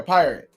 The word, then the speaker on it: Pirat: But I was saying he looks like a pirate.